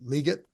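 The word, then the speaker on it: Legette: Um they also have Xavier um liget and that is how you pronounce it. It's not leg.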